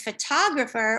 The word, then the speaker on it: photographer: say photographer um as the standard english pronunciation is photographer with stress on the second syllable and the other syllables turn into a schwa and if you know